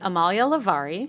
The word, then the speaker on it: Amalia Levari: Her name is Amalia Levari.